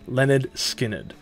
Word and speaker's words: Lynyrd Skynyrd: the band would release their debut album called pronounced Leonard Skinner with their first single band Gimme Three Steps